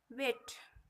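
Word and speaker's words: weight: क्या कहते हैं कि जब किसी वर्ड में ई आई के बाद जी एच या जी एन हो तो ई आई का उच्चारण ए होता है। जैसे वेट, वजन।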